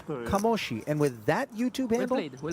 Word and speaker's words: Kamoshi: And by the way, there's nothing more validating than the sight in the YouTube chat of one Claudio De Marzo, who says it is indeed pronounced Kamoshi.